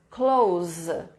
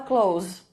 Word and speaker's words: clothes: Ou você fala simplesmente close, com som de Z. Então, é como se os sons fossem K-L-O-U-Z. K-L-O-U-Z. Close. Tá? Na dúvida, tá difícil de falar, fala clothes.